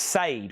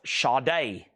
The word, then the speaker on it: Sade: I got Shaw Day. This is Diamond Life. Now, if you didn't know this, anybody on Earth would pronounce this sade, right?